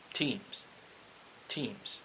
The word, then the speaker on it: Thiem: It's Nadal versus Dominic Thiem. Teams. Yeah, teams. I'm pronouncing it correctly.